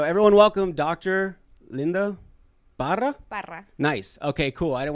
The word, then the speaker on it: Parra: Parra. Nice. Okay, cool. I don't want to say it wrong. I don't want to say it too Mexican. I don't know if you just said Parra.